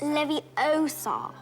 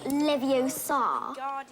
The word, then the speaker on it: Leviosa: I can totally relate you're saying it wrong it's Leviosa not Leviosa you do it then